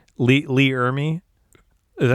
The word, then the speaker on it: Ermey: I part of me goes, I was hoping that you're going to say Lee Ermey. Is that how you say it? Yeah, Lee Ermey.